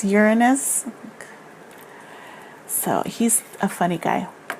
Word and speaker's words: Uranus: how do you say it's not Uranus right its Uranus so he's a funny